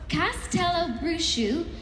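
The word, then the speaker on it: Castelobruxo: exclusively reveal uh is and by the way this is phonetically spelled so I'm definitely pronouncing it correctly Castello bruschu in Brazil hidden deep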